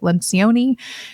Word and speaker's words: Lencioni: If you've read much of Patrick Lencioni, or some people pronounce it Lencioni, this concept of hungry, humble, smart.